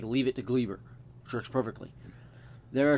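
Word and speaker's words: Gleyber: try to mockery to glee burr torres there's no a in that name it is gleber or gleber but it should be pronounced cleaver according to my aunt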